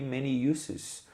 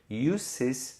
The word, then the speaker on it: uses: Olha a pronúncia que eu falei aqui, many uses. Uses tem som de S, isso aqui não é uses, por causa do usos no português com Z, a gente quer ler sempre igualzinho.